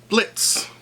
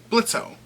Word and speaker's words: Blitzø: This week we have, drumroll please, Blitz, or as some people call him, Blitzø, but the O is silent.